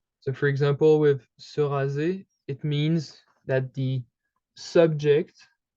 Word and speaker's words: rase: you have to keep in mind that most of the time, the S, when it is a single S, would pronounce the Z sound.